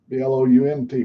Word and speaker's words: Blount: See, yours is spelled B-L-U-N-T. Ours is B-L-O. It's like sounds like Blount County. It's B-L-O and B-L-O-U-N-T, Blount.